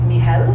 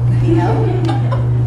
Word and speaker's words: Nihel: My name is Nihel. It's like your knee is giving you hell. Nihel. It is not spelled that way, though, because I've gotten letters saying, dear K-N-E-E-H-E-L-L. No, it's just pronounced that way.